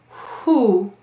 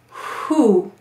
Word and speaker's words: who: And then an unvoiced who. And you can hear it clearly. So even in American English, we pronounce this as an unvoiced who.